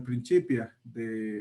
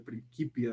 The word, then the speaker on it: Principia: sea tan viejo como el Principia, o el Principia, depende cómo lo quieran pronunciar, el Principia de Newton, y tratar de leer esa notación es rudo.